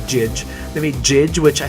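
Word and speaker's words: Jydge: They made a game about time travel, and they made Neon Chrome, and they made Jidge. I think it's pronounced Judge, but it looks like Jidge.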